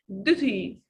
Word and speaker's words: duty: And we can say in American accent, duty. You transform it here to the sound. But in standard English, you can say duty, duty, student, student. Okay, I prepare tests for my students, students.